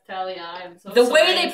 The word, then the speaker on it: Thalia: be there be swearing it's not pronounced Thalia it's Thalia okay well I read I read the book and I thought it was pronounced Talia so the way they